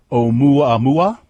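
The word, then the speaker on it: ʻOumuamua: an asteroid MH um pronounced UA mua which is Hawaiian for scout well he says it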